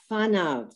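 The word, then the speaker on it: פניו: Now, the second word is pronounced fanav. That's a fe.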